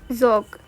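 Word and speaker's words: ज़ौक़: बहादुर शाह जफर और जोक यहां पर याद करने के लिए तो आपको जोक लिख रखा है पर वैसे सही तलफ्फुज होगा जक जक भी दस्ताने दिली के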